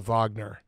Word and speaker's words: Wagner: us uh first question did I say your last name correctly is it a v should I do the v no if you say it American like that you said it right okay but did I sound like a poser where people like you clearly he's American he just tried to go the Vagner no that's that's the right way to say okay all right good